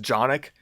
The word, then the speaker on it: Canik: 500 bucks for this canik tp9 sfx i think it's supposed to be pronounced jonick but there's a c like i'm not going to pronounce a c with a j and this has